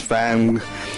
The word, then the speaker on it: FANG: you would pronounce that it's not Fang but it's Fang and it's Facebook Amazon Apple